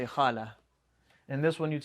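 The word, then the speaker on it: خالة: end this on a sukun and this is pronounced as a hat if you end it on a sucoon so you say hala and this one you'd say khal that's it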